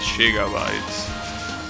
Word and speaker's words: gigabytes: In Spanish we pronounce it as gigabytes.